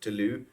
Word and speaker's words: Toulouse: So the jokes essentially write themselves, even though it's, I think, technically pronounced Toulouse, I think. I'm actually not sure. I'm not French. I don't know. But I've been pronouncing it Toulouse because I love making Toulouse jokes.